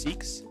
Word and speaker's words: Sikhs: S-I-K-H-S. And I... Yes. Oh, I don't know if I think I pronounced that correctly. Yeah, I think it's Sikhs, isn't it? Isn't it pronounced Sikhs?